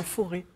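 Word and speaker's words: Forez: c'est très sympathique non le foré ah d'accord on prononce pas le Z bah c'est comme sur les perceuses en fait tuis et forê voilà c'est voilà donc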